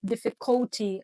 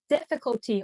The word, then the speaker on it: difficulty: Essa daqui realmente é uma dificuldade de falar, porque em português a gente fala dificuldade, então a gente quer colocar esse difficulty ali, mas não, a gente fala difficulty. Olha o apóstrofo ali bem no início.